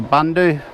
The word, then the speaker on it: Bundu Tech: earlier in the video someone from bundu Tech contacted me saying I'm not pronouncing it correctly I'm can do an abundance and it's Bundaberg is b-u-n-d-a and I think I've been saying bunder Tech Bunda Tech bundle top or something but he says he's